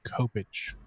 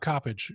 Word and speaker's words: Coppedge: a really dumb question I've always called you Bob Coppedge but somebody recently pronounced your last name Coppage it's garbage okay so all right so look up Bob Coppedge Copp e DG e